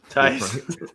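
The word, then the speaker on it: Theis: Tice.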